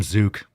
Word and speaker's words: zucc: So it's a hard C. Zook. Yeah, fucking zook. That might be. You might want to check that out. I feel like that might be a slur. I think we went over this before. Of course, it's spelled like Z-U-C-C, but like Z-O-O-K, a zook. That sounds like it could be a slur.